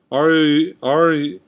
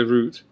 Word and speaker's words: route: I pronounce it differently depending on what I'm talking about. If I'm saying like Route 66, I'll say route. Unless I'm talking about like a paper boy or something, I'll say paper route. So I'll say paper route, but any other way I'll say it route.